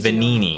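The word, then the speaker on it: Venigni: Vanini is the expert when it comes to Legion Vanini, arms. that's how it's but pronounced.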